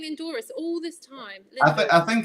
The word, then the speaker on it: Lindores: It's Lindores. Yeah, you're okay. Yeah. I've been saying Lindores all this time.